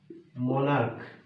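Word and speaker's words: monarch: যদি একটা ওয়ার্ড লিখি মনার্ক দেখেন লাস্টে সি এইচ আছে না কিন্তু উচ্চারণটা হচ্ছে ক এর মত মনার্ক তো এখানে শুধু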